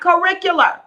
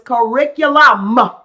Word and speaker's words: curriculum: trying to help you it is not curricular it is curriculum okay and so make